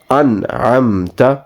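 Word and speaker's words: أنعمت: So again, without going into too much technicality, you will not pronounce or prolong the noon in this an'amta because there is ayn harfi halaki, which we will inshallah touch when we go into further detail of pronunciation or talaffuz. So this word will be pronounced an'amta. It is not correct to pronounce this as an'amta. So both alphabets, noon and meme, will not have a prolonged sound.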